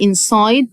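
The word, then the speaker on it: inside: الدرس واحد ان ساي ليه قلت اي لان الاي في الاخر بتساعد الاي ان هي تقول اسمها يبقى انسايد طبعا اي في الاخر ما ننطقهاش انسايد ماي هوم انسايد ماي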